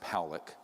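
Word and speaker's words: Pawelec: 600,000 views this man William Pock is pronounced poic uh was a man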